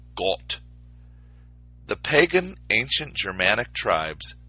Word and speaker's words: Gott: Webster's New Collegiate Dictionary finds the origin of the word God from a Germanic word, God, pronounced as Gott.